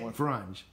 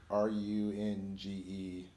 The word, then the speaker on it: Runge: So Nick Frunge. Or Nick Runge. Runge, yeah, sorry, I totally murdered his name. No, sometimes I'm like, yeah, how do you pronounce these people's names? Because you never hear them. Right. But I think I've heard a podcast, and it was actually Runge.